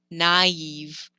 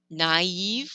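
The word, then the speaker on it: naïve: those two sounds out another example is naive naive we pronounce the ah and the e separately versus if i forgot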